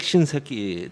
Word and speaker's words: 신세키: 그렇게 그 미국의 육군 장관 에릭 신세키 대장이 그렇게 반대하는데도 발음 주의하셔야 됩니다. 아니 뭐 이게 정확한 발음입니다.